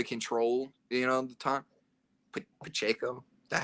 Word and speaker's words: Pacheco: they're rushing to control you know the time Pacheco is that how you say his name yep